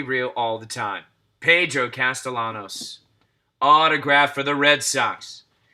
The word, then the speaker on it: Castellanos: red sox nation in the house with pedro castellianos i might have thrown an eye in there i just realized as i pronounced that name so proudly as a red sox fan it's castellanos there's no ayanos but he's still a good